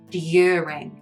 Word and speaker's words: during: Other words that diverge in pronunciation between the British and American accent are words in which you have a y sound in the UK pronunciation. For example, during, news, and tune. With an English accent, those words are said with the y sound.